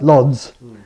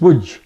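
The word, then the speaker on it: Łódź: on the map like lods but it's wood because the L's got a stroke through and the O's got an acute Accent on it just spel his name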